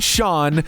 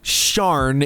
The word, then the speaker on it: Cian: It isn't Sean, Cyan, Cian, or Shan. Thanks, Starbucks. So I thought I would clear it up. First name, Cian, Sharn, if that makes it easier.